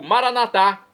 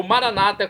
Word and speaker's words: Maranatá: E agora eu clamo do aramaico Maranatá, como dizemos nós católicos, ou Maranata, como dizem nossos irmãos separados, os evangélicos ou protestantes. Não importa a pronúncia, o significado é o mesmo.